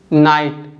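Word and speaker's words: knight: एक वर्ड है नाइट इसको आप क्या बोलोगे नाइट क्योंकि जो लेटर के है य कोई साउंड नहीं बना रहा है लेटर के साइलेंट है लेकिन फिर भी लेटर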